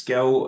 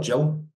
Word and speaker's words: Gill: declo podcast and my guest today is Gill uh Global head of cyber security at bionico EMASS have I pronounced that right you have yep perfect and also your surname is it Gil or Jill Gil Gil good good we're in there so